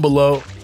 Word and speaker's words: Belleaux: Down Below is like spelled like this, like a U and a B-A-U vibe. He's water boy character. Yeah, Bobby Boucher. It's like L-E-A-U at the end with an X at the end. L-E-A-U-X.